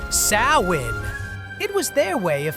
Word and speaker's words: Samhain: Long before pumpkin spice took over, the Celts marked the end of harvest with Samhain, pronounced Samhain.